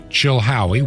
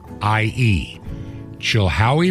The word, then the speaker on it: Chilhowie: 510 the city is Chilhowie PO Box 510 Chilhowee which is spelled c-h-i-l-h-o-w-i-e Chilhowee Virginia and the zip code in Chilhowee Virginia